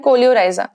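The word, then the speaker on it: coleorhiza: तो इसको प्रोनाउंस सही से करें, काफी बच्चे इसको मिस प्रोनाउंस करते हैं क्योंकि इसकी स्पेलिंग अलग अलग जगह पे अलग अलग दी हुई होती है, बिल्कुल सही बात है, लेकिन हमको बोलना है कोलियोप्टाइल एंड कोलियोराइजा, ठीक है।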